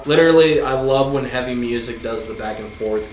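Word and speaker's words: Muzak: Scante, Real Cocaine Music, High Till Dawn, and music is spelled uh M U Z A K.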